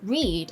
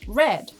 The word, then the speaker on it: read: Take the word read, for instance. It may be pronounced reed, as I did just now, or red.